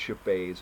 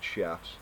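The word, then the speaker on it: Scheffé: hand by the way it's chipet and not chefs um so you know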